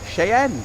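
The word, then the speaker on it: Cheyenne: how you pronounce it chayen shayen that's how you pronounce it or Chen too um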